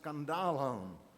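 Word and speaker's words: σκάνδαλον: talked about that in the original language is pronounced scandalon our word Scandal comes from it the word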